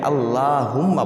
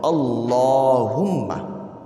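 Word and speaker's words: اللهم: শোনাবো আল্লাহুম্মা ইন্নি আউজুবিকা অনেকেই এখানে আল্লাহুম্মা বলেন এটা ভুল আল্লাহুম্মা হবে না বরং সঠিক উচ্চারণ হলো আল্লাহুম্মা আমি আবারো বলছি আল্লাহুম্মা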